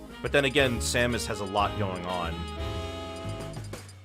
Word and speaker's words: Samus: but then again Samus has a lot going on also realize you say it like the melee announcer Samus yeah as opposed to Samus where is uh all